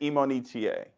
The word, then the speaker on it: Imonitie: name again for me it is imonitier e mo ni t a you got it okay